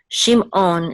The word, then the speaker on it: Shimon: a little bit different in ancient Biblical Hebrew the eyeing is not just um silent it's actually guttural and it's like a Klingon sound from Star Trek so it's own own okay okay so that's the iron it's Ein it's a little bit guttural okay you know how like half is in your throat you feel same thing with this iron Shimon Shimon and also anciently the